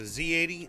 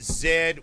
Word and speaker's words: Z: it the Spectrum processor z80 z000 and a I I have to I have to correct sometimes uh fa fight I got y'all pronounce it Zed we pronounce it z i i I understand